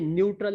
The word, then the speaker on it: neutral: ध्यान से देखिए, न्यूट्रल है, ये नेचुरल मत पढ़ना, नेचुरल की स्पेलिंग NA से शुरू होती है, न्यूट्रल है NEUTRL।